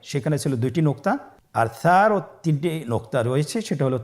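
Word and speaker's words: ث: ছিল 2টি নোক্তা, আর সারও 3টি নোক্তা রয়েছে, সেটা হলো তার উপরে। তাহলে 3 নোক্তাওয়ালা হরফটিকে কি বলে? সা। আবার বলুন সা। সা হরফটি বারিক মানে পাতলা করে উচ্চারণ করতে হবে।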